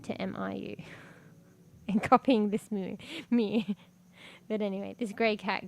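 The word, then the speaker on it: Miu: Her name's Mew too, but it's spelled M-I-U, a very interesting way.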